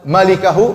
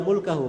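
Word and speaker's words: مالكه: baca yang benar itu bukan bacanya illa mulkahu memang mim lam Kaf ha tapi bukan mulkahu bacanya bacanya illa malikahu cara bacanya malikahu artinya pemilik wajah J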